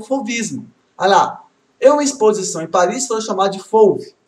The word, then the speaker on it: fauvismo: Ah, gente, em relação à pronúncia, é fauve, fauvismo. Apesar que algumas pessoas falam fauvismo, eu vou falar assim o que eu aprendi nas pronúncias na UNB. Então, fauvismo. Tá?